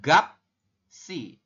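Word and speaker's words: 값이: makanya perubahannya seperti ini Jadi dibacanya adalah gap si seperti itu kalau kita latinan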